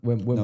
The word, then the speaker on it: Wim Hof: Wim Hof. Wim Hof, just you're saying it right, just Wim instead of N. Wim. M instead of N.